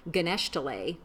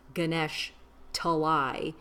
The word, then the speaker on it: Ganesh Talai: was actually from, because he kept saying Ganeshtale, and it was actually two separate words, and it was like Ganesh Talai.